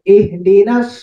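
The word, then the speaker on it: اهدنا: Nanya jangan ikut tebal. Nanya itu tipis. Huruf tebal itu cuma qaf, shad, huruf idbak itu ya, huruf tebal. Selain itu tipis. Dan juga ro, ro yang sebelumnya fathah atau dia dalam fathah ya. Jadi nah ini tipis. Jadi jangan ikut ke shot. Shotnya kan tebalnya. Jangan ikutan. Yang tipis-tipiskan, yang tebal-tebalkan. Ihdina, bukan no.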